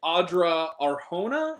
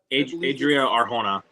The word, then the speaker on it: Adria Arjona: I forget how to pronounce this woman's name, but it's like Audra Arjona. Is that Adria Arjona?